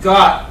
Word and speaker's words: Gat: And that's got G-A-T pronounced got as in G-O-T, but it's spelled G-A-T.